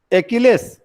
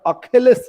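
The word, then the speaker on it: Achilles: एकिलेश जिसका शुद्ध उच्चारण अखेलस है।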